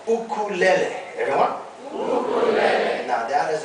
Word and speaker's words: ukulele: come up with our final instrument we call ukulele everyone and now that is the correct pronunciation of this instrument this is not the